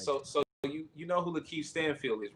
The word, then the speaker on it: Lakeith Stanfield: Now it's gonna So wait, 3 times button like so you know who Lakeith Stanfield is, right? no. I'm not saying his name wrong.